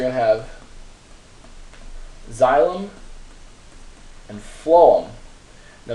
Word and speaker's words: phloem: it so xylem perform that pH makes the F sound so phloem food and that's the vascular